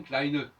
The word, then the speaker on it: kleine: On trouve ça en allemand klein, kleine. Sauf que les Allemands, ils prononcent le E de kleine et ils n'ont pas une façon de.